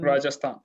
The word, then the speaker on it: Rajasthan: in western how do you say that rajasthan rajasthan yep yeah so i really like this i